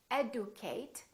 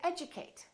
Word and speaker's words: educate: a few more words we don't say adieu Kate we say educate education schedule we don't